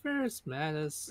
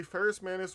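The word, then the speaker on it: Ferrus Manus: it fable I can't I'm pretty sure I'm going to mispronounce his name is it Ferris Manis yes it's the ghost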